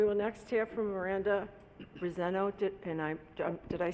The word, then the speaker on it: Briseño: We will next hear from Miranda Briseno. Did I say it correctly? Briseño. Briseño. Like yo at the end. Okay, Briseño, thank you.